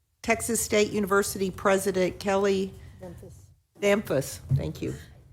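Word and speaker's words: Damphousse: Okay, then we will move on to Texas State University President Kelly Damphus. Thank you. Rhymes with Memphis, Senator Zaffarini tells me.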